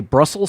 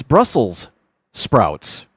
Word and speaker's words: Brussels sprouts: I always say Brussels sprouts with just saying the singular Brussel, but it's not. It's Brussels sprouts, but I never say that.